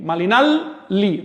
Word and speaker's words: Malinalli: Cali, Malinalli. Recuerden que la doble L siempre se pronuncia como L larga, nunca como la Y del español.